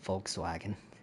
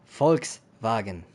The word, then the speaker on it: Volkswagen: The way Americans say it, Volkswagen. It's Volkswagen.